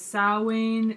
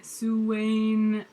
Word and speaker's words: Samhain: you'll which is Christmas this Celtic word is pronounced by the Wiccans as Sal Wayne sue Wayne samane salmon Sabine and other ways and the first one seems to be preferred most but amongst most Wiggins